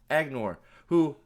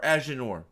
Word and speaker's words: Aginor: The quest for the superior soldier was undertaken by the Forsaken Agnor, or Aginor, however you want to pronounce it, who's not in this show.